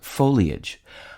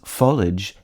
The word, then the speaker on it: foliage: denying that the pronunciations folage and foilage have also Stak their claim the first of these disputed pronunciations is consistent with the pronunciation of the i a g ending in marriage and carriage the second is often